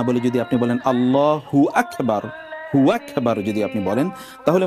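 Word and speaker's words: الله أكبر: করে থাকেন যেমন ধরুন আল্লাহু আকবার ঠিক আছে এই যে এখানে দেখুন মূল উচ্চারণটা হবে আল্লাহু আকবার আল্লাহু একটি শব্দ আকবার একটি শব্দ এখন আপনি আল্লাহু আকবার না বলে যদি আপনি বলেন আল্লাহু আকবার আকবার যদি আপনি বলেন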